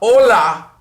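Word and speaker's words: hola: is silent how about Ola have you spell Ola H Oh L a so the H is totally silent and you can remember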